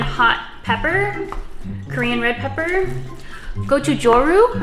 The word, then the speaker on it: Gochujang: Gochujang, I believe is how you pronounce it.